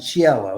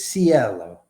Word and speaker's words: Cielo: Some people pronounce it Cielo. It's like that's how it's pronounced in Italy, but it's Cielo.